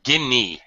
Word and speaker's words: guinea: Ginia gine Pig H Guinea it's pronounced guinea guine pig guine pig yeah okay what does